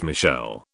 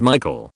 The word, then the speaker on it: Michael: and again this girl was adamant it was pronounced Michelle. Mom beused said something along the lines of it's literally a name from the Bible. It's pronounced Michael and has been for thousands of years.